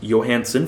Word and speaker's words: Johansen: just remembered was Albert Johansen properly announced pronounced Johansson for some reason